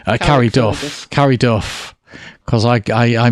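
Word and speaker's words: Carryduff: And he runs the Carrie Fergus, have I got that right? Carrie Duff. Carrie Duff. Because I mispronounced the other one.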